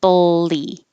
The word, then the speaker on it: bully: So I don't want people to say bully. It's like you're making an L and B at the same time. So you can put your tongue in the L position first and then open your lips for the B. Bull, bull, and then lee, bully. Because you don't really say any vowel at all. It's not a U, it's not an O, it's not even an it's just the L noise.